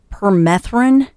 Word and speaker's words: permethrin: Yeah, and you can order it from it's permethrin. How do you spell that? Perm, like permanent, PERM, and then ethrin, ETHRIN. It looks like thin, but with a R.